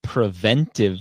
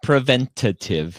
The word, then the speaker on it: preventive: say it right right it's preventive medicine not preventative medicine so I I always